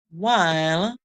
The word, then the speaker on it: while: The W is making the sound here, the H is silent. W. The E is at the end, silent, so we're going to hear the I, call its name here.